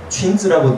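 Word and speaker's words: 裙子: 이거는 군자는 치마 군자고 춘즈라고 늘 쓰는 거고요. 당신을 미혹하게 하는 치마. 미니친 이렇게 씁니다. 그러니까 그냥 미니라고 하는 발음을 가지고 오는데 뜻을 갖다가 만들어 보는 거죠.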